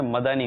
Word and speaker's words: مدنی: کی غلطی ہوتی ہے کہ مدنی کہتے ہیں، مدنی، دال پر ساکن پڑھتے ہیں اس کو نا، مدنی، یہ لفظ غلط ہے. لیکن اس مدنی منی نے مدانی پڑھا ہے نا، مدنی، دال پر زبر پڑا ہے.